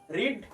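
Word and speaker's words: read: ভার্বের third form রিড, তার third form হচ্ছে রিড, রেড, রেড, তাই তো। প্রোনাউন্সিয়েশনটা আলাদা কিন্তু স্পেলিংটা একই, রেড।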